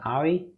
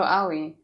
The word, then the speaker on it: Aoi: Nona, Light, and I have no idea how to pronounce that. Ari? Oh, Aoi.